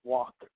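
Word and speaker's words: Wak: Uh it's spelled W A K, but it's pronounced walk.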